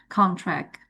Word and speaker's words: contract: Jadi cenderungnya dalam pelafalan bahasa Inggris ini, ketika kata tersebut masuk dalam kategori kelas kata nomina atau kata benda, maka stressnya itu occurs terjadi pada first syllable, suku kata pertama.